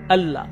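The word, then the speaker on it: الله: সাধারণ নিয়ম হলো যখন লাম অক্ষরের উপর তাসদিদ যুক্ত হয় আমরা হালকাভাবে উচ্চারণ করি। আল্লাহ আল্লাহ।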